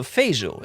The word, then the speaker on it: Feijó: I was told that the J, so the J in Portuguese, is very similar to the French J, like je m'appelle, so Feijó, is that correct?